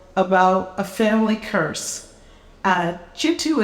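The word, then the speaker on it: Kintu: a family curse uh jitu is spelled k i then T you and that book took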